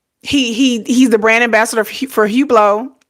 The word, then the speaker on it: Hublot: I think that's how it's pronounced. It's French, right? Hublot? Hublot? Hublot.